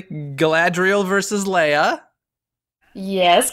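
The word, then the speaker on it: Galadriel: versus Elsa you have let's see if I pronounce this correctly gadriel versus Leia yes correct Mrs Claus versus Mary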